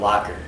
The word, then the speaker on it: Lochner: Locker, Locker, like something you would store something. store it in the locker.